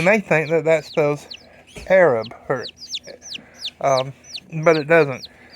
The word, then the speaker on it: Arab: Tick Tock a couple times the town name is spelled a-r-a-b and you may think that that spells Arab her um but it doesn't it is pronounced